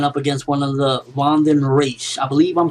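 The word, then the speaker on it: Vandenreich: It's not Von the Wreck. So I believe it's Vanden Reich.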